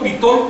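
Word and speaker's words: Bitol: Da primero cuatro nombres que son, todos se pronuncian agudos hasta donde yo sé. Si alguien me puede corregir, adelante. Se llama Sacol, Vitol, Alón y Cajolón.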